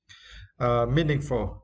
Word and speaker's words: meaningful: For the first word, meaningful. Meaningful, right? It is adjective, and for this word, you need to stress the first syllable, me.